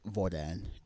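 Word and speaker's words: hvordan: d uh vil uh the h is not pronounced and the same thing here with voran and also uh vor uh vafor and vonoa.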